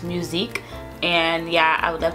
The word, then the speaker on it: musique: her music but in French is called it's pronounced musique and yeah I would love to name my